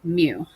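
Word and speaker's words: μ: this is mean and it is read M you with a long u mu the rounding rule when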